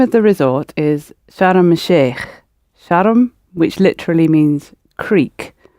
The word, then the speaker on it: Sharm el-Sheikh: Notice the pronunciation. Sharm el-Sheikh.